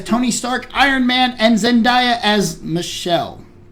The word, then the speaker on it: Zendaya: as Tony Stark, Iron Man, and Zendaya as Michelle. It's actually pronounced Zendaya. Found that out. Zendaya.